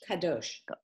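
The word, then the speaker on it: קדוש: Similarly, when we say that the Hebrew word, I can't pronounce that. Kadosh.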